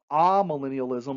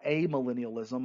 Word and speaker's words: amillennialism: And then finally, we have amillennialism or amillennialism. I've heard it pronounced either way.